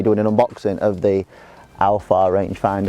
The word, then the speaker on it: Aofar: given by a company called Alpha that's the way that I'm going to pronounce it I think with me